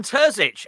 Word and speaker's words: Terzić: I want you to pronounce the name, ideally. Yeah, Terzić should be fine.